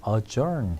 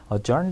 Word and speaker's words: adjourn: 그래서 postpone the meeting, put off the meeting, adjourn. 이 ADJ에서 D 발음 안 돼요, 여러분들. adjourn the meeting, defer the meeting.